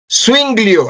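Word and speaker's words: Zuinglio: U L R I C O Swinglio, así como suena con Z. Sui, swing glio. Sí, como suena. Sui, swing, swing con swing, swing, swinglio.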